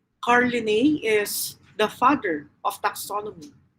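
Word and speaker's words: Linnaeus: actually introduced by carl linney so the one that you can see in the photograph that's carlini carl linney but uh it is spelled like this carly nay is the father of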